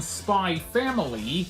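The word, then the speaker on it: Spy x Family: From Spy Family, yes, the X is silent, like the X is silent in the title of Hunter x Hunter.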